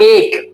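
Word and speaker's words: ache: Okay, hurt या एक, इसको हम एक पढ़ते हैं, इसकी थोड़ी प्रोनाउंसिएशन पे ध्यान देना है। बहुत से लोग इसको एच पढ़ते हैं, एच नहीं पढ़ना, एक पढ़ना है।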